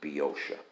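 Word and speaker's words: Boeotia: thoughtfully lets me know how to pronounce be ocea because i uh or b osha uh because i had been mispronouncing it forever and because there's an o in there that's silent it's spelled b-o-e-o but you just ignore that first o it's biosha uh a lot of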